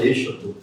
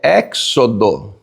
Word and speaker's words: Êxodo: Alguns pastores falam Êxodo. Êxodo. A pronúncia certa na Septuaginta é Éxodo. Éxodo. A pronúncia certa na Septuaginta, Éxodo.